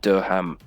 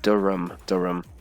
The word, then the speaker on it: Durham: This one, Durham. So like, you can remove the H. It's not Durham or anything. Just and the A is like a U sound. It's like Durham.